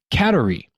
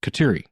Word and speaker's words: Kateri: So it makes sense that the pronunciation should or could actually be catery rather than what I've heard a lot which is katiri.